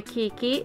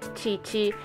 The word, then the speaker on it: Chichi: Dragon Ball Ebbene sì Il nome vero di quella che in Italia è passata come Kiki è Cici come è scritto anche qui sopra perché si legge appunto Cici questa figure l'ho presa